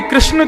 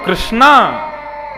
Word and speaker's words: कृष्ण: स्त्रीलिंग संबोधन होता है इसीलिए कृष्ण शब्द का जो लोग कृष्णा उच्चारण करते हैं वे सावधान रहे क्योंकि यदि मुक्ति मिलेगी